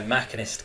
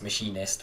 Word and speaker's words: machinist: it by the name it should be my Mac inist character even though should be pronounced machinist but machinist sounds like someone who works in